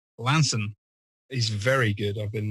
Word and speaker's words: Launceston: the Eagle House Hotel in Launceston, or as it's pronounced down in Cornwall, Lanson.